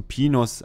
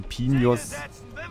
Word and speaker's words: Pinos: Nee, Pinos ja nur, wenn so eine Welle auf dem I ist. Nicht auf dem I, auf dem N natürlich. Ist Spanisch. So.